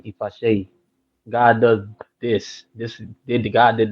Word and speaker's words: Ifaseyi: That's my first name, and then Ifasheyi. Ifasheyi means God does this. That's my name, Ifasheyi. God does this. God did this. That's what that means. So how that Ifasheyi is spelled is IFASEYI.